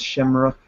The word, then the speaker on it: Seamróg: It is spelt differently than you think. It is in another language, I believe. I forget which language. It might be Irish or Celt. Or Gaelic.